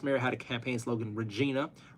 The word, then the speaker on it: Regina: Brian, our last mayor had a campaign slogan, Regina, the city that rhymes with fun.